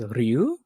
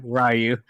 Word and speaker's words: Ryu: Some people are going to pronounce it as Ryu or other people call him Rayu. Yeah. The moment I hear Rayu, I'm going to throw my popcorn at the nearest person to me.